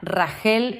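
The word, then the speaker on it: רָחֵל: Raquel se pronuncia Ragel y significa oveja.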